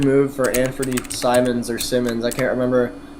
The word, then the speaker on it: Simons: a really good move for Anthony Simons or Simmons. I can't remember how you pronounce his last name, but Simons. Simons.